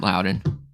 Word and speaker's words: Lowdon: just spell it because my last name sounds different than it's spelled so it's -l-o-w d-o-n